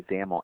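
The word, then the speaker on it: XAML: um by the way zaml X m l is the is the acronym there and that's pronounced with a you know rhyming with camel so let's go ahead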